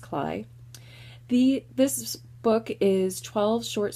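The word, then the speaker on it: Klay: Yes, it looks like clay, but it's actually pronounced Cly.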